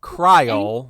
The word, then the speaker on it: Cryo: So it is pronounced Cryo, which rhymes with vial. I believe we have determined that in previous shows, as opposed to krill or krilly or any other dumb thing.